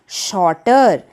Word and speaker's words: short: वैसे तो SHORT, जिसमें ये R साइलेंट होता है, यानी कि हम R का र साउंड नहीं निकालते, शॉर्ट बोलते हैं।